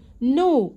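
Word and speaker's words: know: سكر دروب يرسم درو نو يعرف والكي سايلنت ما بننطقهاش والماضي منها نو نو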